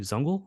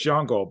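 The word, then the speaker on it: Zungul: right words there uh Steve zungle I'm never good it was pronouncing names it's jungle but so so Steve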